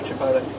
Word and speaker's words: Chipotle: It's like with sauces, everyone gets Chipotle wrong. Chipotle sauce. So no, Chipotle. Completely different. You're getting the pronunciation all wrong.